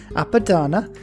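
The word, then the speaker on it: Apadana: to get like the app on padana appadana yep i had to really think about that one but we said it right eventually is pretty good extra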